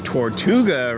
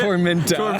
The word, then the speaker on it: Tormenta: Yeah, and the next dive coaster we're probably going to ride is Tortuga, right? Is that how you say it? Tormenta.